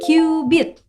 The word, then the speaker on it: cubit: sebagai istilah satu KB tulisannya sih cubit tapi bukan ciri-ciri ikan ya bacanya cubit dan sekitar 4.000 tahun